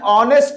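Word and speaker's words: honest: एन ऑनेस्ट मैन। ऑनेस्ट एच इसमें क्या है? साइलेंट है।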